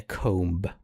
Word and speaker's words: comb: There is a crown, a sword, a shield, and a comb. A comb as in Yeah. Comb. Okay. Yeah. You don't pronounce the B.